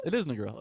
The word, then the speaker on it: Negril: Negril? No, I don't know how to say it. Negril. Yeah, Negril? It is Negril.